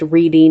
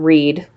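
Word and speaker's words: Wrede: Patricia Reedy and yes her surname is pronounced Reedy not read as one would expect you can see that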